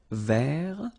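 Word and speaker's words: vert: rou so masculine form don't pronounce the final t ver feminine form ver so listen carefully I don't say but it's ver ver okay so as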